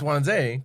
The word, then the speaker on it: Wanze: So we had our dear friend Wanze on here earlier, and he was letting people call it Wanza. I'm like, that's not your name, though. Yeah. It's Wanze, because they'll just say it